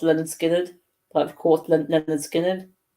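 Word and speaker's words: Lynyrd Skynyrd: 50 albums of all time and that being pronounced Leonard Skynyrd but of course Leonard Skinner which one which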